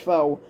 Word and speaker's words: Fox: obsessive preoccupation fo um or as people like to call it fox but it's actually pronounced foe but the great replacement